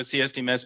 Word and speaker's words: CSDMS: D kind of hard it sounds like symptoms or systems so you'll hear people